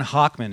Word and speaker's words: Hochman: We're super lucky to have Hochman in the house. It's Hochman, right? Did I pronounce it right?